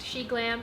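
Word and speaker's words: SHEGLAM: on the xi'an website it is pronounced she glam and she in and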